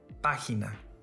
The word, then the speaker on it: página: Another example, página. This word has three syllables. If it followed the rules, the stressed syllable should have been on the next to the last.